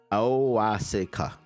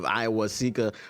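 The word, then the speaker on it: Awosika: I don't know why people can't pronounce his name. Awasika. Okay. I got caught up in the hype of Iwasika.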